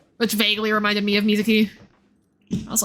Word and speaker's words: Mizuki: It's three syllables. Like come on. Anyway, because that the that NPC's name was Misuzu, which vaguely reminded me of Mizuki.